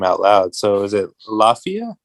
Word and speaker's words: Lafia: say his name out loud so is it Lafia Lafia yeah okay um and you know he was